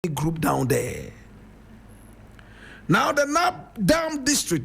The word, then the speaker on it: Nabdam: Now, the Nap Dam district, Napam is spelled N A B D A M is one of the 15 districts in the upper east region of Ghana.